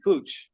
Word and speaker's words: Puig: We've been saying Puig, which is really close, but it's actually more like a puppy. Puig. Yeah, Puig.